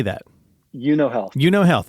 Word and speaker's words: Euno Health: Euno Health. Okay, so just kind of like right. The card game, but with an E in front of it.